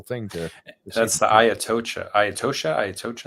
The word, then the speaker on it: Atocha: the Ayatosha. How do you say it? The Atocha.